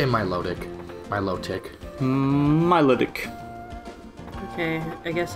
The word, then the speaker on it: Milotic: pronounce it and then 61 of the people who voted said they pronounce it my low tick otherwise the other the